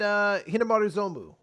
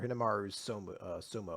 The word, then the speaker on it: Hinomaru Zumou: Then we did Hinomaru Zumou, or Hinomaru Sumo, I guess is a better way to pronounce it.